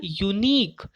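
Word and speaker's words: unique: लेकिन बच्चों अगर आप इसका प्रोनाउंसिएशन चेक करेंगे, क्या चेक करना है आपको? इसका प्रोनाउंसिएशन चेक करना है. अगर आप इसका प्रोनाउंसिएशन चेक करेंगे तो वो होगा यूनिक. य का साउंड आया, य वॉवल नहीं होता है.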